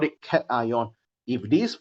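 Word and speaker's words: cation: two right you have cat ion and N ion so this one pronounced as cat ion some people they read at Kon not Kon cat ion this one pronounce as n ion all right but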